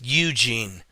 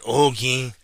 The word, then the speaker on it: Eugene: It's pronounced Eugene, not Eugene.